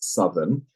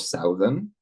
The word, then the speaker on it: southern: from that word that the adjective that is derived from that word is Southern not Southern just a subtlety that